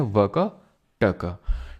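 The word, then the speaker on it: वाकाटक: तरह से indirect control वाका टाका में किसका चला गया वैसे इसको वकाटक प्रोनाउंस करते हैं ठीक है वकाटका तो मैं प्यार से बोल देता हूं ठीक है तो गुप्ता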